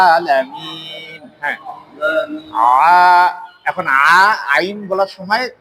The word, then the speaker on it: العالمين: হাম হ্যাঁ আলহামদুলিল্লাহি রাব্বিল আলামিন কইলে হইতো না আলাম এখানে আইন আছে আলামিন হ্যাঁ এখন আইন বলার